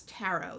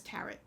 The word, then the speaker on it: tarot: don't pronounce it as tarret and for all of you who do use that pronunciation sorry you're wrong it's taro it's french it's a french word in english we don't pronounce the t sorry cards have been